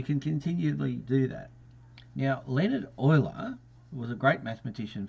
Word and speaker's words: Leonhard: Now, Leonhard Euler was a great mathematician from, what, 400 years ago, one of the most profound individuals.